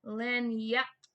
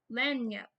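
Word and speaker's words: lagniappe: to do oh look it even pronounces it in the book for me Len yep Len yep so it's spelled l a g n i a PP but it is not how it sounds like it does not sound the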